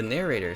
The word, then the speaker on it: narrator: The narrator, somewhat like narrator, with second syllable stress.